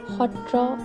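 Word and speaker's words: sattra: Upon landing in Majuli, we are now going to explore the satras, pronounced as Hotra in Assamese.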